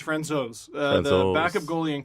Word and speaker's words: Francouz: Pavel Francouz, which is the fourth pronunciation of his name. Yeah, because we said Francouz for like a week now. And I said Francouz before that. Apparently it's Francouz.